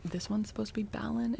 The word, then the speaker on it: Balan: So, B- A L A N is Balon.